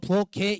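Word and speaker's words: 부엌에: 부엌해라고 발음하는 이유는 뭐예요? 애라는 녀석이요. 모음으로 시작하는 조사예요. 조사는요. 형식 형태소예요. 형식 형태소라는 걸 아이들은 모른다고요. 그러니까 형식 형태소 몸으로 시작한 형식 형태소 앞에 있는 받침은요. 연음 처리가 되어서 그대로 올라붙는 거예요.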